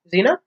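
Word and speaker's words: Zeena: So Ethan is married to Zena. I think that's how you say it. Zena?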